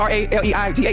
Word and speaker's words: Raleigh: I've been to Raleigh. I've been to Raleigh. Raleigh. Okay, close enough. That's how you say it. How you say it again? You for real? But it's spelled R-A-L-E-I-G-H. Raleigh. That's Raleigh.